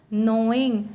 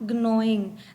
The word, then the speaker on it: gnawing: Children, your G given here is silent. We do not, the G which is given here, this is silent. We pronounce it as gnawing, not gnawing. That would be wrong.